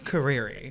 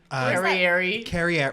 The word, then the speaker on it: Carrieri: let's name it and how do you say your last name properly career career yeah what do you usually get carrier well like that's also um proper it's like in italian um when i went